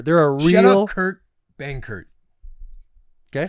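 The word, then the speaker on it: Kurt Benkert: a real gamer they're a real shout out Kurt Bangert okay that's how you say it right yeah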